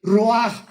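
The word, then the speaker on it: ruach: Apúntalo como suena r u a c h. El roaj que la palabra hebrea para espíritu.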